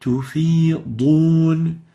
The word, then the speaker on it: تفيضون: They would say تفيدون instead of تفيضون. And actually تفيدون has a totally different meaning, and it's a very obvious lahn. So the right way of pronouncing this is تفيضون.